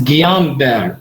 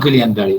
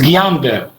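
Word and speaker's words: Guillain-Barré: like in gulen berry syndrome all the correct pronunciation is guillain-barre not guillain-barre this is iraqi way guillain-barre it's guillain-barre so and in a chronic and inflammatory demyelinating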